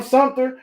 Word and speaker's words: Sumter: Shout out to Sumter, man. If you from Sumter, you say Sumter. Everybody else say Sumter. Yeah, Sumter. Yeah. Spelled with that P in there. Most people forget that.